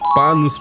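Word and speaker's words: Panos Panay: этого прекрасного человека зовут панос панай он греческого происхождения его предки с острова Крит поэтому ударение именно такое панос Windows 11 преобразилась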